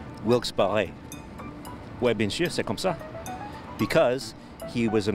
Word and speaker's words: Wilkes-Barre: it's a great city it's a beautiful city wilkes-barre it's the correct pronunciation this guy just informed me for everybody